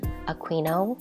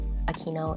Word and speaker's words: Aquino: will pronounce Aquino as a queen ohm which is more of an Italian pronunciation but we normally pronounce it like Aquino in the Philippines and as for my